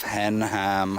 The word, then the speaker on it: Henham: We're now approaching the remains of Henham House. Oh, is it? Pronounced as two separate words. It sounds a bit like henman.